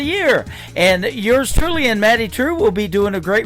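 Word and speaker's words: Maddye Trew: That is a brand new single from Maddie True. It is Maddye on her first name, and True is spelled Trew. Maddie True.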